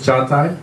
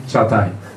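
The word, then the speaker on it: Çağatay: This is Cagatay. Like, it's like C and H, like China, Charles, this little thing in Turkish, in Che. And you need to skip this G, meaning Cagatay. Yeah, it's complicated.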